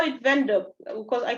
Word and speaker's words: Windhoek: Okay, so they call it Windhoek because I call it Windhoek. So yeah, it's people pronounce it differently. It sounds kind of German. So yeah, it is German, yes.